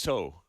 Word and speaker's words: Tso: I always call it General Tso's, but how is it actually pronounced? I believe it's so.